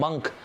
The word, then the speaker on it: monk: यहाँ पे लिखा हुआ MONK, मॉन्क, इसका प्रोनाउंसिएशन मॉन्क नहीं होता, इसका प्रोनाउंसिएशन होता है मंक।